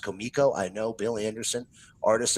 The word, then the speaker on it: Comico: And yes, ladies and gentlemen, it is pronounced Comico.